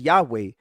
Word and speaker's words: Yahweh: Scholars typically reconstruct its pronunciation as Yahweh.